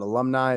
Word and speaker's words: ALVMNII: Definitely check out Alumni. It's spelled ALVMNII.